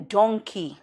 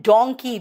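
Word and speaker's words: donkey: याद रखना pronunciation, मंकी एंड डोंकी। मंकी मॉन्की नहीं, एंड डोंकी डंकी नहीं।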